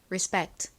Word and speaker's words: respect: 리스펙트라고 보통 표기하고 발음하고 실제 미국식 원어 발음으로는 respect respect 와 같이 발음합니다 따라해 보세요 존경하다 respect